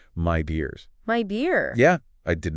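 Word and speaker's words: Midea: Did you know Medea is pronounced my dears?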